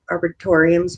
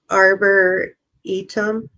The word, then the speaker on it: arboretum: Arboretum, Arbor, and then ETUM. Yeah, something like that. I was like arboretorium.